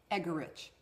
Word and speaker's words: Eggerich: Our last name is pronounced Eggerich. Yeah, people have difficulties with that. Just you've remember rich eggs. Rich and egg.